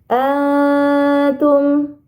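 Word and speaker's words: أَنتُمْ: Nah, teman-teman, baik, perhatikan kembali di ayat yang ketiga pada kata atum. Di sini ada ikhfa hakiki ya. Ada nun sukun bertemu huruf ta, maka dibacanya harus disamarkan dengan dengung yang panjang atau gunnah yang dipanjangkan.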